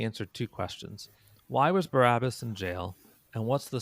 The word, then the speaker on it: Barabbas: Now, his name, let me pronounce it a little differently. Barabbas, Bar Abba, it means son of the Father.